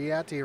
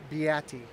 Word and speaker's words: Beatty: So Beatti right there on the back bumper. I just got pronunciation in the chat here. It's Beatty. I apologize for saying it wrong all those times.